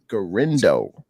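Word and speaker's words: Guerendo: well um next guy Isaac how do you pronounce his name last name Kel gendo gendo that's right that's right one one interesting thing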